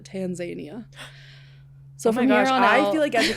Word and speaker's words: Tanzania: I learned is that we are pronouncing it wrong. The locals pronounce it Tanzania.